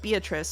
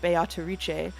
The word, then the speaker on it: Beatrice: how to pronounce uh beatatric because not only will I acknowledge that the Japanese uh actors are saying bayatariche I will say that uh the Japanese pronunciation is based on Italian pronunciation which I checked ahead